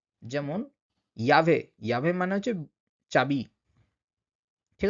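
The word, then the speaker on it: llave: Double L যখন থাকবে কোনো শব্দে তখন কিন্তু উচ্চারণটা ইউ ইউ মানে ইয় উচ্চারণের সঙ্গে হবে। যেমন ইয়াভে, ইয়াভে মানে হচ্ছে চাবি, ঠিক আছে?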